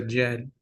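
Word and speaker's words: djed: This symbol is what is referred to as a Jed.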